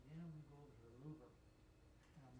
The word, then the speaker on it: Louvre: Now that was surprising because when I went to the Louvre to see the Mona Lisa, because I had a couple trips to Paris, you couldn't get that close.